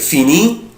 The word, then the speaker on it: finis: je prononce pas، انا مش بنطق لا لتر اس ولا لتر تي، انا مش بنطق لا الاس ولا تي، يعني اي اس اي اس اي تي مش بنطق.